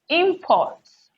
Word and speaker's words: import: a word like this imports import import import okay this is the noun so the stress falls on the first syllable do you see that